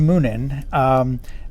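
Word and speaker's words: Muninn: named huggin and moonen when i was a kid i pronounced him huggin and munnon i think i was confusing them with heckle and jekyll who are a totally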